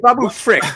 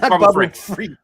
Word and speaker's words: Babu Frick: Wait, Babu Frick, not Babu Freak. Not Babu Freak. Freak out. That's his brother.